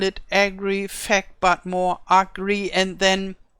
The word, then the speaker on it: Agrifaq: And here I have to spell it, or I have to pronounce it different than the original pronunciation would be. I call it Agrifaq, and I hope this is not one of those nasty words that are forbidden.